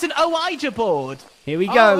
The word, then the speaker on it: Ouija: You're saying Ouija, as in like Mario and Ouija? Really? Ouija board. How it's pronounced? Can you not see the A at the end?